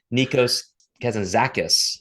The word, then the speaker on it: Nikos Kazantzakis: I wanted to make sure I knew how to pronounce his name. It's Nikos Kazantzakis, a kind of a modern 20th century Greek philosopher.